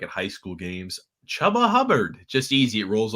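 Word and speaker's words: Chuba: it is spelled chubba it was like c-h-u-b-a then you could say maybe tuber but that the two b's makes that a soft u sound so it is chubba okay well i'll just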